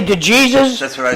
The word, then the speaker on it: DeJesus: So the right pronunciation of the last name is Dejesus. Dejesus. That's the pronunciation. And then my fellow Americans say DeJesus.